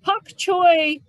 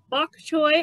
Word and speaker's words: bok choy: or bok choy there's you'll see that there's one that's spelled with a b and one spelled with a p they are the same thing it just depends on what region of china you're in on whether it's going to be bak or pok so this is pak